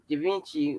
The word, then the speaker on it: Givenchy: I have a Givenchy, well, how do you the pronounce the purse?